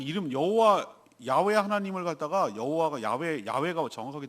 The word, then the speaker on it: 야훼: 스스로 있는 자라고 하면서 나는 야훼 여호와 하나님이라고 그랬어요. 자기 이름이 여호와, 우리는 여호와 익숙해지는데 정확한 원어 발음은 야훼가 가까워요.